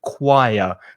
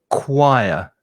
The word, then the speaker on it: choir: of the pronunciation because you've got a ch there but the sound is k it's a hard k sound so choir and there's also an intrusive a sound so choir is the pronunciation people